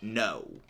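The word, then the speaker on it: know: Yep. Silent K. There's a number of actually silent words, like no. K-N-O-W. It has a silent K in it.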